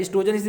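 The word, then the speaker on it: oestrogen: पर भी लिखा था, ओ करके स्पेलिंग लिखी थी, जिसमें वो साइलेंट होता है। एस्ट्रोजन इसी से पढ़ा जाता है।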